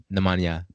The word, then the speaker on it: Nemanja: I want to make sure I say it right, Nemanja, right?